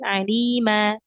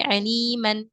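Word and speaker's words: عليما: menjadi ee apa namanya dibaca panjang dua harakat tanwinnya itu dihilangkan ya diganti dengan mad asli alima alima bukan lagi Aliman atau Alim enggak tapi dibacanya jadi alima seperti itu atau hakima nah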